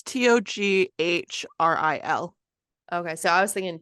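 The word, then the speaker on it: Toghrul: It sounded like you said toe girl, like Togrul. toe girl. Yeah, but it's like Togrul. It's Toghril.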